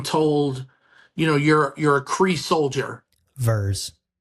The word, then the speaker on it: Vers: Or Vers. You know? Yeah. So. The Vers Initiative. Veers. It's pronounced Veers.